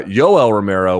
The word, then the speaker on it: Yoel Romero: with a j so why isn't it hoe l because uh yoel romero would be pronounced by my wife and some other people in latin america by with a j the y would be a j sound so it would be joel to them right um why is